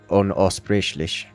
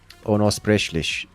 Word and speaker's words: unaussprechlich: I'm guessing it has some connotation that I don't fully understand, because Unaussprechlich, I don't need to roll the R.